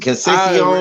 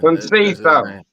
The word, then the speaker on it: Conceição: Pronounce it. Conceição. His name is Robinson. That's his name is Robinson. Conceição.